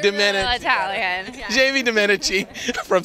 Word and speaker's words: Domenici: Did I pronounce that name right this time, Jamie? Pretty good, pretty good. I mean, Dominici. Dominici. Okay, like Dominici.